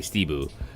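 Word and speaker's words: ステブ: Stebu, kind of. Steeble. Well, S-U. It'd be S-U-T-E-B-U. So Tebu. But you wouldn't pronounce the first U. You'd sort of just say Stebu.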